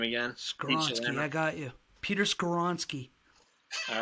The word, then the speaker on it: Skoronski: our guy Wally pronounced help me out here pronounce the name again I got you Peter skoronski all right I swear I practiced it a